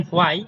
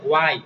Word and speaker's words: why: আমরা এটা বলতাম হোয়াই, বাট এটা সচরাচর হোয়াই হবে না, এটা হবে ওয়াই। ও ও উচ্চারণ হবে ওয়াই।